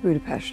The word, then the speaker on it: Budapest: dice en su película cómo pronunciar correctamente Budapest? No, it's Budapest. Budapest. Budapest. Nos damos cuenta de que ya desde Los Vengadores lo dice así. Just like Budapest all over again. Además, es como se pronuncia en Rusia y es coherente con